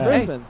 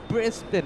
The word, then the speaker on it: Brisbane: yeah there you go brisban trust the host people around me they tell me people I know it's not Brisbane it's Brisbane not brisban it's Brisbane Australia okay